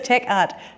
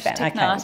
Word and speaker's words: Technarte: Last year, and she's quite busy obviously, she won the very prestigious TechNut artist residency. Is that how you say it? It's like Spanish. Technarte.